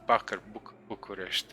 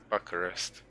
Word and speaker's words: Bucharest: That's actually how we pronounce Bucharest, okay, Bucharest.